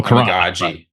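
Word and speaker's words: Kiran Amegadjie: Oh, Karan. Amagaji.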